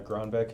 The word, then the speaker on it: Gronbeck: how do you say your last name uh gronbeck it's g-r-o-n-b-e-c-k okay all right hey Matt why